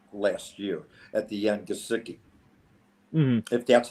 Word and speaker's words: Gesicki: Gesicki, if that's how you pronounce his name. Yeah, it's Mike And Gesicki.